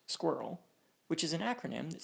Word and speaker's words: SQRL: Scanned.in is a free and open source authentication system that implements SQRL, pronounced SQRL, which is an acronym that stands for Secure, Quick, Reliable Login.